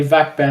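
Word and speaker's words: VAC ban: Does hot said it wrong cuz he's like he's meant to say vakban, but he said buck van cuz he's Spanish. And then people just spam that in the goddamn comments.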